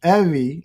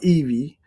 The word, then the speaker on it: Evie: for the 150th time it's Evie as in Chevy not Eevee and so uh I